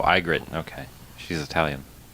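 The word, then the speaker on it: Ygritte: okay is it pronounced egit in the in the television show I think so no it's pronounced igrit oh igrit okay she's Italian how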